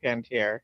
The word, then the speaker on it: Panettiere: I'm not quite sure how it's pronounced, but you know, Nikki, Hayden Panettiere. Yeah, it is. It is Hayden Panettiere.